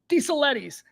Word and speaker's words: DeSaletis: First read, extraordinarily complicated last name that I have never seen before, DeSaletis. And I'm telling you, that's the proper pronunciation.